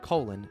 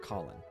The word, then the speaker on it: Colin: Piss then we have colon Powell and yes it's pronounced colon not Colin the first black secretary